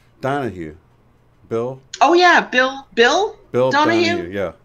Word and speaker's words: Donahue: Oh yeah, Bill Donahue? Yeah. Because it rhymes with Phil Donahue.